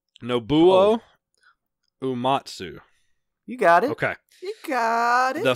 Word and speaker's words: Nobuo Uematsu: Star all right and help me with the pronunciation Nobuo Uematsu you got it okay the famous composer from